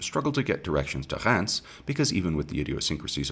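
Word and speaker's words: Reims: or more logically pronounced re that is instead pronounced Rance French language notwithstanding gurnie made up for his near victory at Rance the previous year having that time been unwilling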